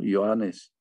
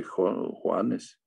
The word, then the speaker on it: Johannes: Johannes. Johannes, no se dice Juanes, Johannes.